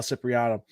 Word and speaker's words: Cipriano: And then letterer Sal Cipriano. Did I pronounce that correctly?